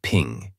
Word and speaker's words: PNG: portable Network graphics and is pronounced as ping it was created by